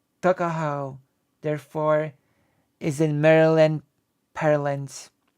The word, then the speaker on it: Tuckahoe: Eastern Shore men usually pronounce the word took as tuck. Tuckahoe, therefore, is in Maryland parlance. Tuckahoe, but whatever may have